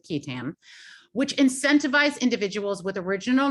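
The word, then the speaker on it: qui tam: its key tam provisions sometimes pronounced quitan but i'm going with kitam which incentivize individuals with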